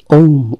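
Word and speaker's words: womb: ওম, ওম আরেকটি silent word.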